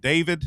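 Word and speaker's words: d4vd: Do you pronounce it David?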